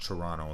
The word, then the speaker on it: Toronto: beginning of the video it's actually pronounced toronto the last t is silent that's how you know